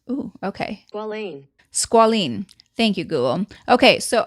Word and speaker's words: squalene: Let me look this up to pronounce it because it's bothering me that I don't know how to pronounce. Ooh, okay. Squalene.